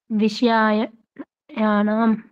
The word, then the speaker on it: विषयाणाम: जी, णा पढ़ो इसको, णा णा णा। णा हाँ, नाम। विषयाणाम।